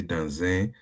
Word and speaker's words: dans un: But one thing you need to note Mm. is that you see that S is a consonant. U is a vowel. So when two vowel and consonant meet end to end, you pronounce it fastly, like if in a fast mode, but it's going to look as if that you are adding it together, you are joining them together.